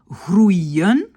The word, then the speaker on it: groeien: De nouveau, on fait très attention quand on a par exemple groeien, on sait que ça c'est OU, et puis un I, et puis un N.